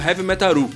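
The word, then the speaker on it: ヘヴィメタル: metal é um trocadilho com a pronúncia japonesa de heavy metal Seria algo como Heavy metaru ele confirmou que o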